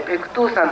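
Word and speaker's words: 白頭山: ですね、白い頭の山と書いてペクトゥー山という山があります。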